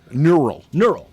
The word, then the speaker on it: neural: Did you say a neutral network? Yes. Neural. Okay. I'm sorry. I mispronounced it. It's Mike sort of like Davies. How about Mike Davies? Give him a hand. Mike Davies' eyes. Neural network. Sorry. I put a T in.